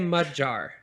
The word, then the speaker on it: Magyar: So if you go there, they're going to say Magyar. Magyar is more close to the regular pronunciation, but we don't want to be mud jar. So we go phonetic.